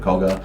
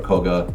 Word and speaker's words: Koga: the whole region of koga and you know koka or koga you know it's pronounced both ways and that family line